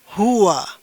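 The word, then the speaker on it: هو: Yang pertama ini dibaca hua.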